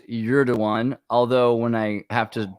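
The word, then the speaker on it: Erdoğan: By the way, yes, Piano Gigger, it is pronounced Erdogan, although when I have to spell it out,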